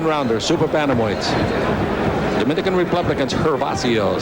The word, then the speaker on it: Gervacio: super panamoids dominican republicans hervacio starts with a g pronounced like an h in september of 90